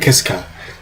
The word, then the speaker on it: Kiska: um alaskan islands of uh i have the pronunciation right here uh atu and kiska those are the two alaskan islands um that